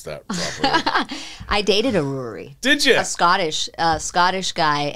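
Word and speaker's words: Ruaraidh: But she figured, oh, there's no way the Yanks will pronounce that properly. I dated a Ruary.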